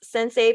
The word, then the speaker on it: Centsei: are the founders of sensei finance a budget training program and that's sensei pronounced like mr miyagi's bow to your sensei but spelled like sense